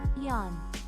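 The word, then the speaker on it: よん: a delicious frosting hat the Japanese number for four is pronounced like Yan but shorter Yan and I could eat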